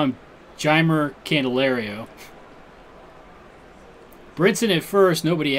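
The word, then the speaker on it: Jeimer: pronounce his name it's I thought it was himer but he likes it pronounced jammer and I believe he's okay with candelario but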